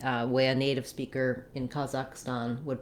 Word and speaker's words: Kazakhstan: So now I would say in the US, more people would say Kazakhstan with that same ah vowel in the last syllable as well. In British English, I also saw it depicted as Kazakhstan with an ah, black cat vowel in both places. I would avoid that, although you may hear it sometimes when you're listening to native speakers.